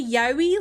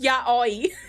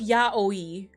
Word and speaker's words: yaoi: I think the thing is, it's pronounced like Ya Oi. You know, um like Ya Oi, because they they have their their syllables like the exact same length in Japanese unless it's an O with a a top on it.